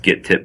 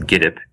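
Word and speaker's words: Gittip: a website called giddap I thought it was pronounced get tip but I recently discovered it's pronounced giddap and it's for it's like for open-source developers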